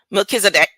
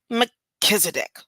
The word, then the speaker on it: Melchizedek: phonetics, and she says the emphasis on the second syllable Kiz and the sound, UH, is pronounced quickly and lightly.